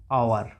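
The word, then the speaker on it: hour: তাহলে এইগুলো, এই যে এইচ সাইলেন্ট থেকে যাচ্ছে, এই ক্ষেত্রে কি আর উচ্চারণটা কোথা থেকে শুরু হচ্ছে দেখো, আওয়ার, ও থেকে শুরু হচ্ছে, ভাওয়েল সাউন্ড থেকে শুরু হয়ে যাচ্ছে, এখানে অনেস্টের ও থেকে শুরু হয়ে যাচ্ছে।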